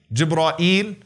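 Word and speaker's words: جبريل: How can you say the name of Jibreel alayhi salam? What are some of the ways to pronounce his name? Jibreel, Jibra'il, Jibra'il, Jibra'il, Jibreel. Those are five ways that have been narrated through the various qira'at.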